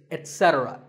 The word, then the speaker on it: etc.: Number three is etc. A very common incorrect pronunciation is to say ek, etc. instead of et.